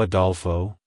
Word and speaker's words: Adolfo: It's pronounced as Adolfo. Adolfo. Adolfo. To pronounce it correctly, emphasize the first syllable, ah, and the second syllable, doel, with a short o sound, and end with fa. Like, hello Adolfo.